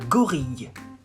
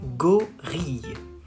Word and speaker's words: gorille: You say un gorille. Un gorille. Right? See, you have a double L in this word. Gorille. And it's pronounced y instead of le.